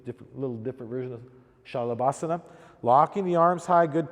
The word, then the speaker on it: Shalabhasana: So we're going to do 3 different versions of Salabhasana or Shalabhasana, however you want to pronounce it. It would really be Shalabhasana. Lock the legs out. Most yoga teachers around here say Salabhasana.